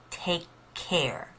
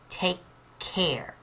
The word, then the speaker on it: take care: that k sound but you don't actually pronounce k twice you just kind of pause a little bit then you pronounce the k in care so take care take